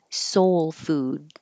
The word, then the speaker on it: soul food: soul food soul food you don't have to release that D I should put that little Mark there to say hold your tongue in the D position so you don't say food duck just hold it food big five food